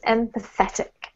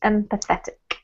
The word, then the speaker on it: empathetic: If you're going to read this word here, the emphasis is on the et, so it's empathetic. Empathetic.